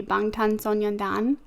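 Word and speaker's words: 방탄소년단: this is stanford so the korean i guess pronunciation would be bangtan sonyandan which is like bulletproof boy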